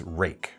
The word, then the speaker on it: Ruike: Everyone tells me it's Ruike, R-U-I-K-E. And I, in my head, know